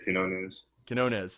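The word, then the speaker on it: Quiñones: So you're also playing with Lester Quinones. I can't pronounce his last name. Yeah, Quinones.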